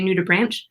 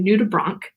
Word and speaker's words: nudibranch: So this is a nudibranch, which has a very strange pronunciation. Most people who see this want to say nudibranch, but it's actually nudibranch.